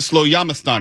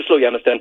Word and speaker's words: Slowjamastan: Now, I know that there's someone who's listening right now who would like to drive down to you pronounce it Slowjamastan, is that correct?